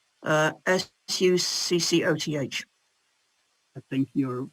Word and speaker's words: Sukkot: Okay, I think that's Sukkot. Succoth. I think you're phonetically correct, Sukkot.